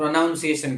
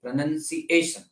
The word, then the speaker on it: pronunciation: લોકો pronunciation કહેતા હોય છે પણ એમ નહીં, pronunciation. એ ઉપર ભાર મૂકવાનો, pronunciation એ ઉપર ભાર મૂકવાનો.